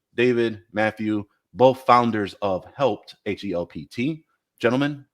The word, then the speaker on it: Helpt: see it spelled h e l PT and pronounce it help te but to get out there that it's just called helped I smile ear to ear gotcha um now